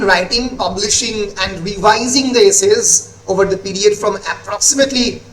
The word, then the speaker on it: Essais: ফলে the actual pronunciation in French is the essays, ESSAIS, French language essays, and English আমরা essays বলি।